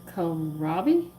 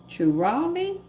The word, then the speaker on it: kohlrabi: This vegetable is kohlrabi. Churabi. I know it, but I cannot pronounce this stupid word.